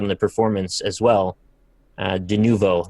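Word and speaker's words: Denuvo: De Nuvo, that's how you say it.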